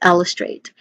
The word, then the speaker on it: illustrate: So that is illustrate. And lastly, pronunciation wise still, we start with il. There's guardian here. Then a short, quick, unstressed vowel sound, straight with a diphthong a as in day. All right.